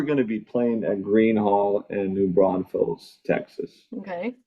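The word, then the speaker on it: Gruene Hall: So this is actually in Green Hall. It's spelled Grune Hall, which is green in German.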